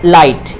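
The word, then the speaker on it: light: यहाँ भी ये GHT है तो ये T तो साइलेंट नहीं होगा, लेकिन GH जो है साइलेंट होगा। तो ये क्या हो जाएगा, लाइट यानी कि रोशनी।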